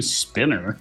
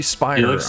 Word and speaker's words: Spiner: the is real upset you pronounced his last name spinner Spiner how do you say it it's probably Spiner I'm just terrible General it's like a uh